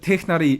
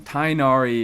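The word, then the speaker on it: Tighnari: Um, but the the Tnari is closer to the original pronunciation of his name. Tinari is is like a bit too much of an Americanization for me.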